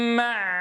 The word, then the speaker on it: معلوم: قدر معلوم معلوم معلوم أتنبه يا أحبة إلى صوت العين هنا فالعين بينية فلا يصح أن ينقطع صوتها حتى ننطق بالحرف الذي يليها فلا يصح أن نقول معلوم فينقطع الصوت ولا يصح أن نجعلها أن نجعلها متموجة معلوم معلوم واضح يا إخواني؟ إذا لابد من الضغط والتضييق في المخرج لتحقيق صفة البينية، ولكن من غير غلق تام للمخرج بحيث تغدو شديدة فينقطع صوتها. إذا نقولها هكذا معلوم، اع، انظروا إلى صوتها،